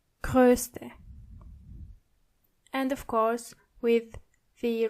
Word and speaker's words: größte: adjective, you have to change O into O umlaut. So it's groß, but größer and größte. Try to practice the pronunciation. Groß, größer, größte.